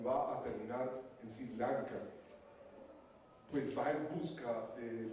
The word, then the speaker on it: Sri Lanka: isla que nos da por pronunciarla como vemos la S y la R juntas y nos esforzamos todos, es Sri Lanka.